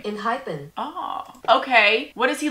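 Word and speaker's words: Enhypen: Inhypen.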